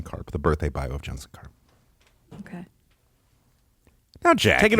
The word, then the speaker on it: Jensen Karp: Well, first of all, it's not Jetson Karp. It's Jensen Carp, which I already said that.